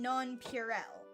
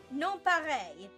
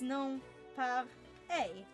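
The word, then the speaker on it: nonpareil: And I'm like, what do you mean non-purel? Ah, And they're yes, like, the it's a sprinkles. non-purel. And I'm like, show me how it's spelled. And they spell it out for me. And I'm like, non pareil. And they just kind of look at me for a moment. And I'm like, it's non pareil. N-O-N, non, par, P-E-A-R, A.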